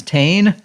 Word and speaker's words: Tane: His name is Tane, spelled like Wayne, but with a T.